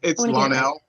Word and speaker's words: Lonnell: What should I pronounce? Is it? It's Lonnell.